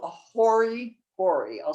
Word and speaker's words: hori: a hand pool and it's called a hoary hori i'll spell that for you that's h o r i